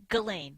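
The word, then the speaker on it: Ghislaine: It's Galain. Galain. I got to write that down phonetically.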